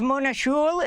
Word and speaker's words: Mona Juul: You have Mona Juul, if that's how you pronounce her name, j u u l, the Norwegian ambassador to